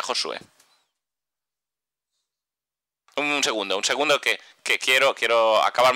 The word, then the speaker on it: Josué: Josué, se pronuncia Josué.